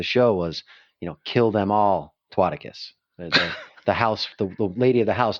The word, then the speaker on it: Twaticus: Twaticus, how do you say that?